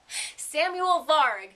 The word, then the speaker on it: Samuel Varg: And the thing about Samuel, well, one thing about him is he's Swedish, and I'm definitely mispronouncing his name, so I will let him say it correctly for you. Samuel Varg.